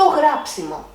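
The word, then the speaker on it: γράψιμο: To grapsimo. It's a neutral noun with ending of mo with the accent on the third syllable from the end.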